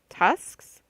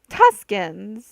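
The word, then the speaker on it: Tusken: into his own voice tusks Leia made a circling motion with her fingers trying to get him to say the second syllable oh tuskin c3po's voice resumed the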